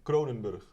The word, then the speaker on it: Kroonenburg: In Dutch it's Kroonenburg. Kroonenburg, yeah?